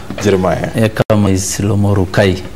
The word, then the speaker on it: Ekamais Lomorukai: Your pronunciation of my names is okay, but I need to put it in a more Turkana way. Turkana language. Ekamais Lomorukai. Those syllables.